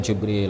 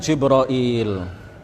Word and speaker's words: Jibril: mengatakan jibroil ya bisa juga kita mengatakan jabril atau Jibril atau jibroil atau ada ada juga Lughah yang lain ya bisa juga disebut dengan beberapa pelafalan yang lain dan itu semuanya benar secara bahasa tetapi yang paling terkenal adalah